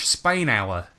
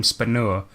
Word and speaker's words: Spainhour: It's pronounced like the country and the time period, because last episode we kept calling him Spanur.